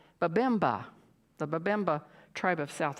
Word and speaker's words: Babemba: B-A-B-E-M-A. So I would say Babemba, the Babemba tribe of South Africa.